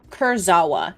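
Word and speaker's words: Kurzawa: Kursawa.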